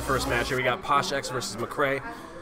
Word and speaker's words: PoshXX: We got PoshXX versus McCray. The X is silent. X is always silent.